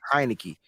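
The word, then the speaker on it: Heinicke: Heineke, right? Like Heineken.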